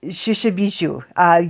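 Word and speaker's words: Mishipeshu: Mississippi? Shishabishu. You don't pronounce the M.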